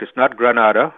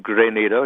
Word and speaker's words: Grenada: have you with us first of all am i pronouncing Grenada right you up around Grenada right you're absolutely correct it's not Grenada no the city in space it's great NATO yes okay so see so if you want